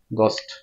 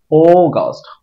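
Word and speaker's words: August: আগস্ট আমরা উচ্চারণ করি আগস্ট আগস্ট এটা ভুল উচ্চারণ আগস্ট হবে না হবে ও গাস্ট ও মুখটাকে গোল করার চেষ্টা করবো ও গাস্ট হ্যাঁ আমি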